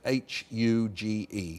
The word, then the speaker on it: huge: for me the word H-U-G-E. You say that to me. Huge. Now, you've used the sound at the beginning of that differently from now say happy to me.